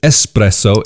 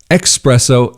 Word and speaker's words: espresso: there for you so expresso express i'll give it to you if you pronounce it expresso yeah okay if you're coming to italy don't pronounce it like that but i understand why